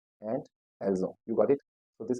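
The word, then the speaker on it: ils ont: the sound becom Z and I will say elzo because o starts with again Vel o n t the pronunciation is oo ELO so let's practice let's repat after me so J and elzo you got it so this is how the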